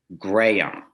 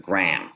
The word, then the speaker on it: Graham: And I was mortified that, and he explained that it was Graham, which is sort of 3 syllables instead of Graham, which is 1, the way I was saying my upstate New York twang.